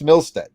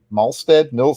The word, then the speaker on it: Malstead: Every time you see those black highlights and those in there, that's Milstead. And he just, if I'm saying it right, Malstead is with an A.